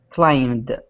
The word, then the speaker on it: climbed: Climbed. Final consonant? D. Yeah, M. Yeah, it actually is M. Why is it not B? Because B is silent.